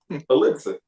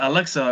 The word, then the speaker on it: elixir: it wrong I think you said Alexa or something like that you know you must be